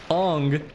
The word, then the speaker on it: Eng: I used to go by Eng, which is true, but on stealth is pronounced as Ong.